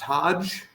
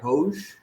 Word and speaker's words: Hoge: House of Jordans uh not pronounced Hodge but hosh um just pissed off